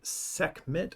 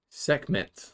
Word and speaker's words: Sekhmet: scruffy bumps up to this egyptian goddess named sekhmet how would you pronounce that sekhmet sekhmet yeah i think that's probably yeah uh